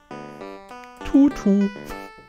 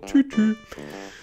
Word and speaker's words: Tutu: Ballettröckchen, das ist das Tutu. Nein, ausgesprochen Tütü.